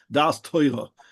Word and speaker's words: Daas: I have to say it with a strong Ashkanazic accent. Dasa, that is the only way to pronounce it.